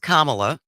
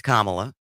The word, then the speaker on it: Kamala: to just correct you for one thing it's pronounced Kamala yeah I I do think it's been long enough now that we can all learn how to pronounce her name yeah it's kamla kamla and did you watch the debate she